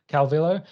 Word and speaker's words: Calvillo: How do you say her last name? Calvillo.